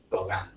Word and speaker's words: Gauguin: Gauguin se escribe, ¿no? Y se pronuncia Gauguin, ya, bueno, francesado.